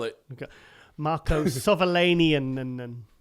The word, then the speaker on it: Savolainen: Oh, Marco Savalanian.